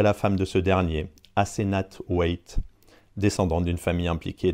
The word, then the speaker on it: Asenath: Edward rencontre Asenath, ça s'écrit A-S-E-N-A-T-H, une jeune femme étrange et mystérieuse qui descend d'une famille d'Innsmouth.